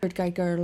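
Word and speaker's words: Kurt Geiger: shoes are Kurt gerer Kurt Giger London in Crock pain leather Kurt Giger is a British company but named after its Austrian founder hence the German Austrian pronunciation Selena Gomez is mael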